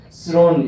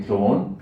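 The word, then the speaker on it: throne: 헤블리 이 말을 하나님의 하늘의 천국의 이런 뜻이고 스론 이 말은 우리 목사님은 드론이라 하더라고요. 드론. 예. 드론은 하늘 날아다니는 게 드론인데 스론. 예. 번데기 발음 다 아시죠?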